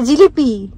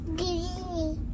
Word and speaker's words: জিলিপি: খাচ্ছ ধ্বনি হুম ধনি কি ঝলি ঝলি নয় জিলিপি জিলিপি আবার বলো জিলিনি ঘাটটা নেড়ে দিলে কি উচ্চারণটা ঠিক হয়ে গেল ও একটা কিছু ম্যানেজ